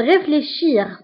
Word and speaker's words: réfléchis: مثلا لو فيرب réfléchir. Réfléchir كيرجع réfléchi. دائما اس اللي في الاخر ما كنطقوهاش.